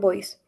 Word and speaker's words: voice: Okay, next one, Roxy, Eye contact and voice. okay. How do you say this one, Roxy? Voice. Okay, voice. Remember, don't say B.